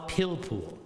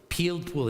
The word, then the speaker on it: pilpul: We call it pilpul, is the Hebrew word for it. Pilpul. In English, you would spell it, I guess, P-I-L-P-U-L, pilpul.